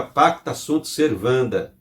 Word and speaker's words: pacta sunt servanda: E eu trago ali uma palavra, uma frase em latim que se pronuncia pacta sunt servanda.